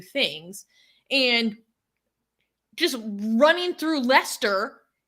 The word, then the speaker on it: Leicester: up hatred hatred in how do you pronounce this city again Lester Lester Muhammad hijab was also